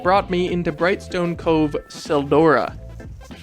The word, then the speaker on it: Tseldora: me into Brightstone Cove Tseldora. The T is silent, by the way.